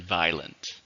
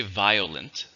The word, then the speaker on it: violent: How many syllables are in violent? Well, when I say it, there are 2 syllables, but you could say violent, violent, violent, in which case there's 3. So violent or violent, they're both okay.